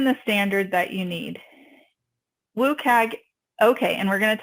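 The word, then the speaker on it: WCAG: going to talk about woag this is a little bit of a tomato tomato uh discussion but some people say wag some people say woag and some people spell it out WC a they all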